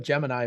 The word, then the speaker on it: Gemini: guess is something different I've always called it Gemini but it it every historical document that I see when I hear people talk about it they always say geminy so I'm like I'm going that I'm go with the historical pronunciation of it so uh yeah so